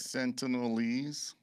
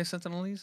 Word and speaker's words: Sentinelese: Sentinelese. Okay, Sentinelese, is that how you say it? Yeah. Just add ease to it, like that other word.